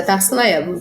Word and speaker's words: Tarssila Ebbo: Eu me pronuncio de uma forma mais corporativa, né? E mais profissional. É Tarsila Evo.